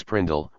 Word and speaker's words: PRNDL: sometimes called the PRNDL pronounced as Prindle regardless of the actual letters or numbers used gear shifting on a